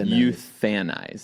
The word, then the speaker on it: euthanize: like a euphemism but how do you say it you fannize you fannize but it's the english language it's not spelled like that there's no th in that word the silent case another